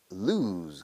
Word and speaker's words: lose: Se pronuncia lose, como si fuera una U descarada, pero es una O.